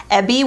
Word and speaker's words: Eby: which i love so the brand is ebby which is spelled eby they actually reached out